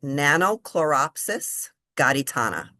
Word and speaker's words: Nannochloropsis gaditana: You you you pronounce it Nannochloropsis gaditana.